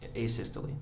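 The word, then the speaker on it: asystole: Uh a sisterly I think it's called. Um am I pronouncing that right by the way? Acisty. Yeah. Yes. Would you spell that for ladies and gentlemen of the jury?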